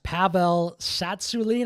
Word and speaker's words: Pavel Tsatsouline: Pavel Tsatsouline, I think, is how you say his name.